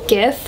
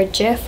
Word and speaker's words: GIF: something similar to that it's kind of like a gif or Jif Harvey pronounced it on